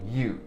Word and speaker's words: う: Now this one, and the romaji is the letter U. It is pronounced U, like food.